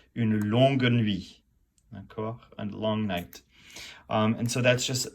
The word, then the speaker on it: long: So you've got long, which is pronounced long, d'accord? L-O-N-G, you do not pronounce the G unless it's the feminine, and then it's longue, d'accord?